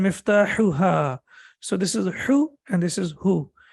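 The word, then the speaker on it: مفتاحها: So the first one is both of them are from the throat, but this one is sharp. So we say miftahuhu and miftahuha.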